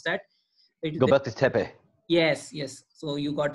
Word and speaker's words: Göbekli Tepe: Turkey, how do you pronounce that? Göbekli Tepe.